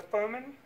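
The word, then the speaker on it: Firman: This is a Furman, I believe is how you pronounce it. Furman, I looked it up.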